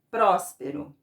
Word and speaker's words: próspero: Qual a sílaba que eu falei mais forte? É o prós, né? Que é a sílaba tônica. Então, ela é a antepenúltima. Então, ela é uma palavra proparoxítona.